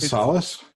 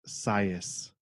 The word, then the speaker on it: Sias: Is it Solace? No, it's not. Sayas? Sayas? It's not Sayas. It's not Solace. What am I saying wrong? It's pronounced Sias.